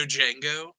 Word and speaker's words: Django: Excuse me, I believe the Django. Thank you for the pronunciation. They addressed that in this comic. The D is silent.